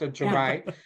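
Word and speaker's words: Ja'mie: It's Jamie, but pronounced Jermaine.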